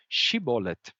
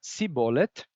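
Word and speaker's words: שיבולת: e nessa passagem eles pedem para as pessoas pronunciarem a palavra shibolet e se é caso pronunciarem essa palavra como si bolet então eles sabem Ah esse daqui é frita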